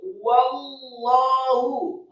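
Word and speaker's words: وَاللَّهُ: Wallahu, kata Allah, haknya tafkhim dan tebal marfu' atau dhamma satu harokat.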